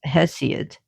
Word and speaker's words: Hesiod: Along came Hesiod, which we pronounce Hesiod, the S, the Hesiod, Theogony, and he was around 750 to 650 BCE.